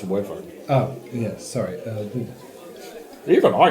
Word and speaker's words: wyvern: Yes, I did have a small tussle with a wyvern. It's Come over again. But you won. That's the move. It's pronounced wyvern.